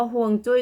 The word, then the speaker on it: ฮวงจุ้ย: คือ หมาย ถึง น้ำ ซึ่ง เรา จะ ออก เสียง ตาม จะ ตาม ภาษา จีน แต้จิ๋ว เนาะ อ่าฮวงจุ้ย เนี่ย นะ